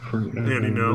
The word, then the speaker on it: Andy Ngo: I think it's just no. Andy No. The G is just there for no fucking reason.